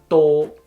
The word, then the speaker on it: 多: open and close door and in Cantonese door notice the difference if you're struggling to pronounce the d on setting Cantonese I would recommend you to put the tip of a tongue a bit more behind than how you will pronounce the d onset in English a bit more behind like though so you won't make the door sound okay next up we